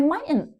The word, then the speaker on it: mightn't: And many times that T in the middle is silent. We just skip over it. I might not. I mightn't.